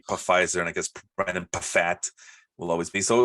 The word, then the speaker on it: Pfaadt: When in doubt, just pronounce the P. So it's Pfaadt.